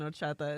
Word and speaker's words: horchata: First off, so now I that had to tell him today that the H in horchata is silent, and so then they had to figure out how horchata was spelled.